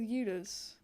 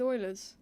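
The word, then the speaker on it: Euler: about this is that it's with ERS no it's with Oilers yeah that's how you pronounce it and so that maybe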